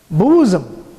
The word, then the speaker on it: bosom: a woman who held a babe against her bosom said, speak to us of children. B-O-S-O-M, pronounced as bosom.